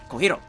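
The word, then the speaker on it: Cojiro: I do flip the R because that's how it's pronounced, but I'm not going to go... yeah, you know. Okay, fine. Kohiro.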